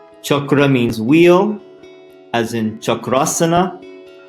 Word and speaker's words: chakra: There are other chakras as well, but there are 7 major chakras, and this word is often mispronounced chakra, but chakra.